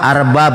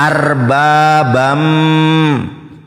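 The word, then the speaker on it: أربابا: Arbabam. Karena baca Al-Qur'an itu tidak seperti baca Bibel. Ada hukum tazwid di situ. Ada nun tanwin, ada tasdid. Dibacanya idgham bigunah ya. Arbabam. Ada ini gunah di sini.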